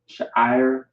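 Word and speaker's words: שיער: Sha'ir is how you pronounce it, which means hair in Hebrew.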